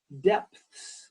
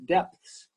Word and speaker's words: depths: it good very good the other word is depths this is tricky depths you have a p-a-t-h and a nests all